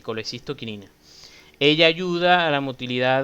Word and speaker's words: colecistoquinina: Se pronuncia normalmente así, colecistoquinina.